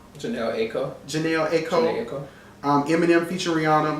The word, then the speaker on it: Janelle Aiko: Best rap song, Calibration, Common, featuring Janae Akiko. That's how you say her name? Janelle Aiko.